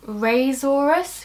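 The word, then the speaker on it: risorius: You can pronounce it raisorus because it raises the corner of the mouth, just in case that helps you remember.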